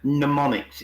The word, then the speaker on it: mnemonics: It's called mnemonics. It's spelled with an MN, ENIC.